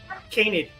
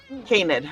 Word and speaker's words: canid: Canid. Canid.